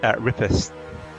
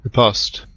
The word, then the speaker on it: riposte: And it follows quickly with a riposte. How do you pronounce that? Riposte.